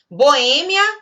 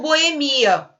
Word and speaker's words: boemia: Boêmia ou boemia. Também é um caso de prosódia dupla, que você pode pronunciar dessa forma.